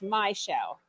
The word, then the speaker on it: Michelle: If she happens to be watching or watching later, this is for Michelle. I'll message her. Spelled Michelle, but it's probably pronounced Michelle. Not shell, it's my shell.